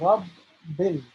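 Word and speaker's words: ربِّ: So the reason why there are 2 letter B's here is because the objective, the goal is to pronounce the letter B twice, right? As if it's bouncing, right? So Rabbil.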